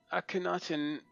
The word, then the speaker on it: Akhenaten: Akhenaten, that's yeah, that's how you pronounce it.